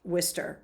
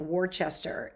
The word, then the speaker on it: Worcester: So afterwards, I went up to the guy at the aquarium because he mispronounced Worcester. He was calling it Worcester in the class that they gave at the aquarium.